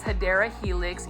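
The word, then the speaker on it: Hedera helix: this is everybody's favorite this is a HRA helix or the correct way to say it is hadera Helix English ivy so for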